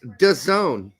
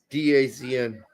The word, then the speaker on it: DAZN: It's pronounced Done. Not Dazn.